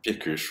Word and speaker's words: Piecuch: Alexander, on prononce Piecouche, Piecouche, comment? Piekush, oui. Piecouche. Comme ça se lit.